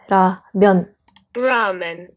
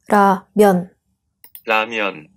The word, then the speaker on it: 라면: Toto slovo se vyslovuje v Japonsku jako Ramen. A pak toto slovo přišlo do Koreje z Japonska. Podle systemu korejské výslovnosti se to vyslovuje „Ramyeon 라면“. „Ramyeon 라면“ Závěrem, nudle vyrobené z